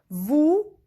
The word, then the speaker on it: vous: Vous means you, plural. S is silent.